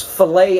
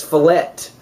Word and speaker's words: filet: know what steaks are if you pronounce filet as fallet it goes down the